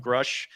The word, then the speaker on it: Grusch: Friend and I did episode 1 talking about David Grusch, if I'm pronouncing it, Yeah. Grusch.